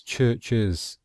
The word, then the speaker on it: churches: In the singular there is one syllable, church, and in the plural it's churches. So two syllables, churches; dishes, buses, boxes, buzzers.